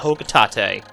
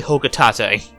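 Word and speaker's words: Hocotate: my family on planet hokutate and yes it actually is how it's pronounced i thought i thought it was poked like a bunch of other people but it's actually hoka tate analysis shows life support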